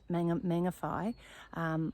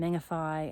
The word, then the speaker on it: Mangawhai: amazing place, and so the WH is actually pronounced fa, and so there's different places like Whangarei and Mangawhai.